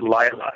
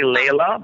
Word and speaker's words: Laila: itself it spells l-a-i-l-a in her way we pronounce it Lila he had to say Layla but it's actually I'm all right right we're